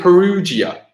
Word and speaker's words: Perugia: they set in is it Perugia so he's Perugia hung in paragate from Perugia they second I